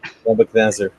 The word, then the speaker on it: Nebuchadnezzar: I popped my finger right on verse 1 of, how do you pronounce that? Nebuchadnezzar.